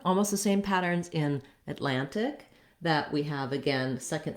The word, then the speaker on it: Atlantic: then same thing where we might omit that tea and say just more of a lannick atlantic rather than atlantic again this tea is optional i would say you